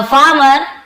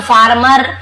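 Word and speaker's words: farmer: बहुत से लोग फार्मर, फार्मर र को पूरा पढ़ते हैं, लेकिन आप ध्यान देंगे पढ़ते समय थोड़ा आर साइलेंट जैसा था, फार्मर ऐसे, फार्मर एकदम, आपको फार्मर ऐसे नहीं बोलना है।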